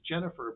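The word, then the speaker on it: Gennifer: gfer long says it's pronunciation is Jennifer but it's spelled with a G it's Celtic all right got it that is that's very cool got it Jennifer thank you for uh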